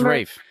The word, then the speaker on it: Ralph: Yeah, you're just saying it wrong when you say Ralph, dumbass. Really? Yeah. All right, I'm a dumbass. No, it's Rafe.